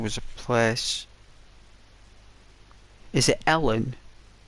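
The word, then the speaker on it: Ellon: a place is it Ellen it's called Ellen I think they pronounced it alen my mom did like alen and there was Peter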